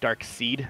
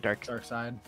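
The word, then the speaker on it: Darkseid: It's got, I think it's Dark Seed. Is that how you say it? Dark Side. Dark Side, yeah.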